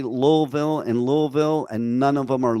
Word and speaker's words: Louisville: got the people here in Kentucky who don't even know how to pronounce Louisville right. They pronounce it Louisville. It's Louisville.